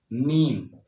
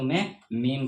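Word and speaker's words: میم: pronunciation होता है ल और इसको जो है हम उर्दू में कहते हैं मीम इसको हम उर्दू में मीम कहते हैं जिसका प्रोनाउंसिएशन होता है म जिसका प्रोनाउंसिएशन होता है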